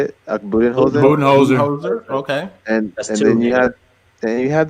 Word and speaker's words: Budenholzer: Budenholzer.